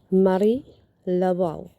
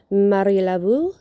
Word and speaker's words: Marie Laveau: Marie Laveau, or Laveau, it depends how you pronounce it. You can pronounce it Marie Laveau, or you can pronounce it Marie Laveau.